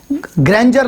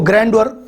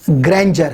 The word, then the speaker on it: grandeur: इसी तरह GRANDEURE, ग्रैंजर लफ्ज़ है, इसको ग्रैंडर प्रोनाउंस कर देते हैं गलती से, तो ये इसको करेक्ट कर लें, ये ग्रैंजर है।